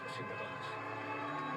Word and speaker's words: Sinterklaas: In English, Saint Sir Klaas. And when you pronounce it fast, then you can Sinterklaas.